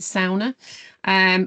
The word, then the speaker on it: sauna: And there's some truly unique experiences too, like ice floating in a frozen lake, unwinding in a traditional Finnish sauna, or they pronounce it sauna.